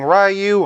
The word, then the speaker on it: Ryu: I grew up saying Ryu, I know some people say Ryu, and I know it can also be pronounced Rue.